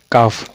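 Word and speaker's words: calf: पिंडली क्या बोलते हैं काफ क्या बोलते हैं अब एल एल को साइलेंट क्यों रखा है एल को नहीं पढ़ना है काल अफ नहीं पढ़ना काफ पढ़ना है काफ देख लेना काफ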